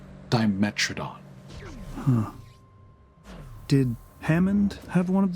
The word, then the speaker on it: Dimetrodon: can't wait okay well i guess i've been pronouncing it incorrectly all this time right dimetrodon i think they said instead of diametron just like that i've